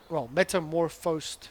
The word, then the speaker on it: metamorphosed: He actually gave me the correct pronunciation for the because I kept on saying metamorphed or metamorphed, when I thought it was metamorphed in a metamorphed state, but it's actually morphosed state. Metamorphosed state. Yes, quite interesting.